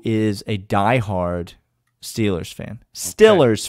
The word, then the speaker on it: Steelers: Stillers fan is how you say it if you're a Steelers fan.